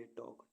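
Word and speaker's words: talk: का पास्ट बुड है टी ए एल के टॉक टॉक मीस बातचीत करना डब्लू ए एल के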